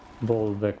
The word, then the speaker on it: Bollwerk: Bollwerk would be the German pronunciation, maybe also the English one.